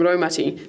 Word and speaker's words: Raumati: The ro from Raumati sounds like rowing a boat.